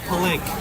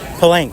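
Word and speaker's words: Pellenc: And um and what's how do you pronounce the brand? Pank. Pank.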